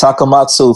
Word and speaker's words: Takamatsu: with shad and smith specifically about japan and takamatsu is that correct pronunciations yes it's takamatsu five arrows is the name in the bj